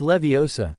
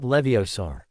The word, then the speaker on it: Leviosa: Besides, you're saying it wrong. It's Leviosa, not Leviosaur.